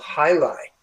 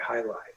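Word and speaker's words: jai alai: time and there was this sport um called highlight which I think is spelled J AI and then L AI. highlight.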